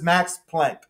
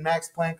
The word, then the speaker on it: Planck: figured it out is max planck um or it might be pronounced plonk uh he's german um